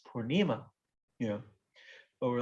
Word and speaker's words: purnima: a festival called gorpurnima purnima is full moon it's a long a at the end it's feminine and so everybody in india always says purnima you know but we're